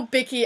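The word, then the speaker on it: bikkie: So when I saw Bicky, I thought it was talking about like a bicycle or something, but it's Bicky, like a cookie.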